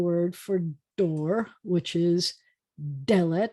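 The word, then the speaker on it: דלת: And then we have the word for door, which is Dalet. It's an es, so the accent's on the first syllable, and it does have a digation, the Dalet, because it's the beginning of a word.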